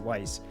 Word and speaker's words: Weiss: it as it weiss i always pronounce it wise yeah but they introduced